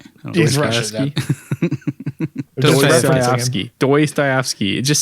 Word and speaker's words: Dostoevsky: Dostoevsky. Dostoevsky. It just sounds wrong. Dostoevsky. Like dose, like two. Yeah, Dostoevsky.